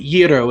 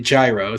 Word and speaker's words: gyro: like that one just make sure you know how to pronounce it Euro instead of Gyro so at least okay